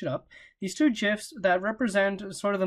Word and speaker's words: GIF: two GIFs, and yes, they are pronounced GIFs, I did search it up, these two GIFs that represent sort of the motion that we've been looking at with these phasors.